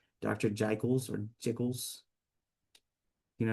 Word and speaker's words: Jekyll: Jekyll's or Jiggles? You know how to pronounce that? Jekyll's.